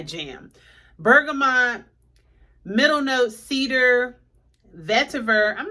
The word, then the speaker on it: vetiver: Let me see how it's pronounced. Vetiver. Vetiver.